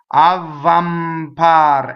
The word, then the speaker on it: avvampar: Avvampar. M's, when they touch a consonant, they double. Huh? Avvampar. Don't make a big deal about double V. Right? Double V does not stop phonation. Neither does double B.